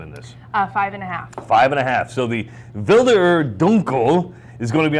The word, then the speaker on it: Wilderer: How do I pronounce this again? Wilderer.